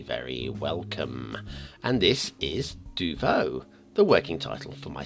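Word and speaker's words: Deauveau: How do you pronounce Duvo is the question. D-E-A-U-V-E-A-U, Duvo.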